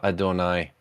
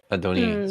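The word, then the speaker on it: אדני: we're told uh s Sarah called Abram uh Adonai Adoni sorry I said it wrong uh So yeah,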